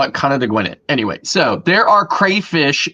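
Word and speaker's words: Conodoguinet: And the other one is an Indian word that in English is pronounced Conadagwinit.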